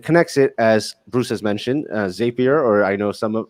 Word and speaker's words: Zapier: ours and with connexit as bruce has mentioned zapier or i know some of i think the official word uh the official pronunciation is zapier but uh i prefer zapier so anyway um